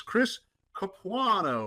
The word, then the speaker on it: Chris Capuano: And his name is Chris Capuano.